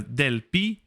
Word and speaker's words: Delphi: tusculum is a small city and there are del pi est so a new location del p del pihi del pi because there's no ph sound in